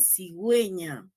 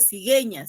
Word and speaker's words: cigüeña: No hay que pronunciar cigueña, sino cigüeña, ¿no?